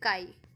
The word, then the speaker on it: chi: काई square, ठीक है, इसको बोलेंगे काई। जैसे स्काई होता है, स्काई का एस साइलेंट कर दो, काई बन जाएगा, तो काई स्क्वायर, ठीक है।